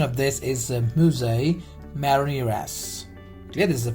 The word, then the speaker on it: mousse: So the next, mousse. It's not mousse, is the pronunciation is mousse.